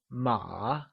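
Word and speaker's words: 马: is the second one ma did you get that ma good so remember horse translates to MA and is said with a falling rising tone also known as the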